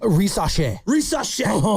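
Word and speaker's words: Risacher: Zachariah, how do you pronounce it? Risache. Risache looking better and more like fluid of a player than any of our recent draft picks.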